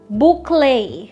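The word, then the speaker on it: bouclé: This word comes from French originally, hence the accent. Two different ways of pronouncing it. Boucle. Boucle. Stress on the first syllable. It's also correct to say it as boucle.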